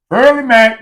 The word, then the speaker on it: Furly Mac: I start focusing on early Mac early Mac that's how you say my name you know yeah 100%